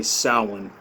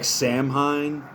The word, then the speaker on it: Samhain: uh now that we're almost to Halloween or uh as the ancient Irish and Scottish Kelts would say sin. Uh it looks like Samhine, but it's Gaelic.